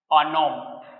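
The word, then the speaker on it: un homme: अब ये पता है कैसे हो रहा है, प्रोनाउंसिएशन सिर्फ इतने का ही हो रहा है, अनोम। ठीक है, तो एच क्या हो जा रहा है, एच रिमूव हो जा रहा है, साउंड सिर्फ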